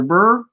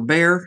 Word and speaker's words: Behr: This is just regular Burr house paint, or Behr, however you want to pronounce it.